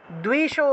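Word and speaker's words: দ্বিষো: যশো দেহি, যশো আছে, উচ্চারণ হবে যশো, যশো, যশো দেহি দ্বিশো জহি, দুই, দয়ের নিচে বফলা। এখানে দেখুন দয়ের নিচে বফলা আছে, দয়ের নিচে বফলা থাকলে দুও উচ্চারণ হবে, দুও।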